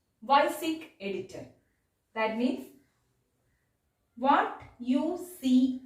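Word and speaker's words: WYSIWYG: We can pronounce like this, YSIG editor.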